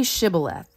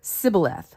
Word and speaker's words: Shibboleth: And when he said, "No," they said to him, "Then say Shibboleth." And he said, "Sibboleth," for he could not pronounce it right.